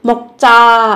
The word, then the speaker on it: 먹자: 먹자 ăn thôi, gấp đôi phụ âm chờ khi phát âm các bạn nhé.